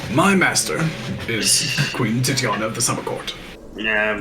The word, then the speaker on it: Titania: He's like, "My master is Queen Titiana of the Summer Court." Yeah, Queen Titties. I got it. Yeah, I know. Sure, right. Perhaps I will use the alternative pronunciation, Titania.